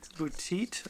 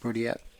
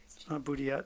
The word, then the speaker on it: Boudiette: We were going to have Ken Boutit, I think is how you say his name, from Renaud. Boudiette. Boudiette, thank you.